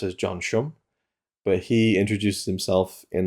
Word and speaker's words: John Sham: The interview with John Sham, I've heard his name pronounced as John Shum, but he introduced himself in that interview as, "Hi, I'm John Sham," and his English is very good.